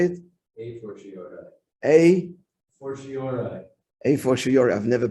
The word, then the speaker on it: a fortiori: A fortiori. A fortiori. I've never pronounced it.